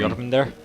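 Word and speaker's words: Jörmungandr: The next duel is Thor and pronounce the name for me. Jormungandr?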